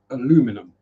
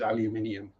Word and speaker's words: aluminium: Because when aluminium was first discovered, it was discovered as and known as aluminum.